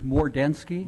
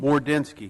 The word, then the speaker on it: Mordensky: For future reference, my name is Mordensky. Mordensky.